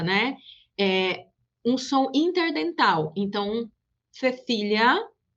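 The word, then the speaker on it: Cecilia: em toda a América, o Z e o C diante do E e do I se pronunciam como o S. Então, esses dois exemplos anteriores ficam Cecília e Zorro.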